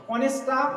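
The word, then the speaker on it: honest: অনেস্টটা এর সাউন্ডটা মানে কি বলবো, ও এর মতো হচ্ছে, হ্যাঁ, এই যে সাউন্ডটা ও এর মতো, এখানে এইচটা সাইলেন্ট, সেই জন্য এখানে অ্যান বসালাম।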